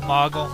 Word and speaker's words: Moogle: Moogle, Moggle, whatever you want to say. I always pronounced it Moogle. It makes sense with 2 O's. Like, what does a cow say? Moogle.